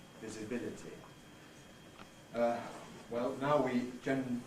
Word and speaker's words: visibility: so on but notice also in words like visibility now there is an a now rather oldfashioned pronunciation which I transcribed there with a line through it which would be visibility visibility uh well now we gen generally have this